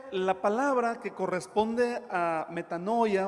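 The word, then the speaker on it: μετάνοια: Metanoia.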